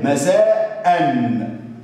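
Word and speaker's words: مساءً: مساء قال لي إيه؟ مساء شوف آخر حرف نطقوا نون عليها سكون. بعض الناس هيروح يكتب لي كده مساء ويروح يعمل لي النون كده وعليها سكون كمان، أقول له غلط. ليه غلط يا استاذ؟ ما قلت مساء اهي، مساء ان، لا يا حبيب قلبي ما فيهاش نون، ده نون تنوين.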